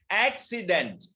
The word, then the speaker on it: accident: that's right second one accident a-c-c-i-d-e-n-g accident we pronounce it as k and s together not like papua it